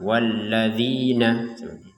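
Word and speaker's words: وَالَّذِينَ: Dua. Walladzina. Jadi jangan sampai lebih ya. Walladzina jangan sampai kurang. Kalau kurang walladzina gitu. Jadi walladzina langsung gabungkan ke langsung digabungkan ke ayat ataupun kata berikutnya. Walladzina yukminuna.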